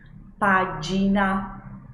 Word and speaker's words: pagina: Pagina, pagina, não página, pagina, va bene?